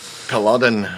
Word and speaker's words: Culloden: First time I've heard it pronounced correctly. Culloden. As in it's sort of onomatopoeic. It's like the sound a dead Scotsman makes as he falls to the floor.